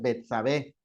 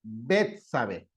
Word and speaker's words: Betsabé: betzabé algo así Betsabé y creo que tiene acento en la primera e y no es betzabé es betsabe Entonces fíjense qué importante